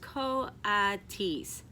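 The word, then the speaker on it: kodkod: Brisbane said reading from the letter pronounced Co odd T's the codis looked weird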